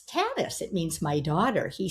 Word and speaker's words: Tanis: And I said, "It's Tanis. It means my daughter." He said, "Oh," he said, "in our culture, we pronounce it Tanis, and it means daughter to the people.